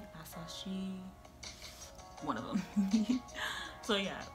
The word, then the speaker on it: Asahi: I don't know which one could work for Noya and Asashi's hair. I keep saying his name wrong and it makes me so mad. Asahi, one of them.